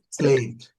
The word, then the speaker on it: slept: উচ্চারণটা হবে Slept. slept হ্যাঁ sleep, slept, slept, পাশাপাশি পাশাপাশি আমরা উচ্চারণটা দেখব কারণ এটা ইম্পর্টেন্ট স্লিপ হবে স্লেপ্ট হ্যাঁ নট slept, স্লিপ slept, উচ্চারণটা হবে okay, স্লেপ্ট ওকে আচ্ছা Slept.